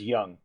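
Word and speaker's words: Yeong: sorry it's pronounced as young it's literally just young young okay yes young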